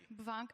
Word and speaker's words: BVNK: you don't want to pronounce it bunk, like Bulgari? I think they inverted the Bulgari? Bunk?